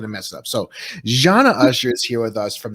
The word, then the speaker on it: Zana Usher: It's Zana Usher. Zana Usher. See, I knew I was going to mess it up. So Zana Usher is here with us from ZD Hospitality.